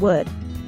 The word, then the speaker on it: wood: cutting out the dead wood. To produce the short sound in wood, we raise the back of our tongue while rounding the lips and moving them forward a little.